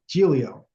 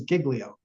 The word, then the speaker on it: Giglio: not badly um oh this was a gelio you corrected me I I said it was Giglio because I I pronounced it like but you you know it's probably Italian right I think foreign